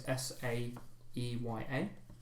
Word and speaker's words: Sire: Sire is Saeya.